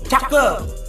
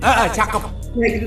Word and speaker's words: cakep: if Randy say the first line, you just have to say cakep like that. I don't know how to say it. Cakep. Jacob? Cakep. Like Jacob? Cakep. That's right.